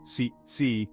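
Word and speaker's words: 四: The Chinese word for 4, si, sounds very similar to the word for death, si, leading to a widespread aversion to the number.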